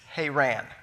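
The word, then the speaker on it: Haran: pronounce it like this but the correct pronunciation is hey ran but that actually sounds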